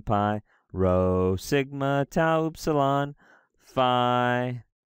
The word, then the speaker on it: Phi: of those is fine Phi or fee is pronounced like the pH and phone like a F sound Chi is like a